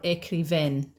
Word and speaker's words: écrivaine: Or écrivaine. Changes the pronunciation, okay? As well as the spelling.